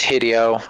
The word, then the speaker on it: Hideo: Yeah, it's Hideio. Like video.